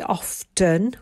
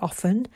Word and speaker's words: often: in a downwards direction often we don't say often we say often so the t is silent so i would go